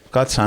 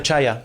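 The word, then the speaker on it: Czaja: De secretario general y de portavoz Mario Katza, ¿no? Mario Chaya. Chaya, sí, digo, sí. Katza, mira qué pronunciación impresionante. Katza a Chaya, bueno.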